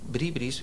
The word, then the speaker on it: bribri: una conversación de entre bribris porque se pronuncia bribri correcto no es bri bri bri bri bri bri